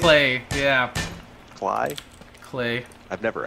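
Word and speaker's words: Klei: Cly Lobster. Is it Cly? Oh, Clay! Clay? It's Clay, yeah.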